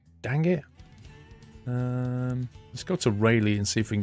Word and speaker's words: Rayleigh: Pronunciation, Rally. Nah. You're not having that one, Jim. It's Rayleigh, mate. I'm pretty certain we had that name before you did. So it's Rayleigh for me.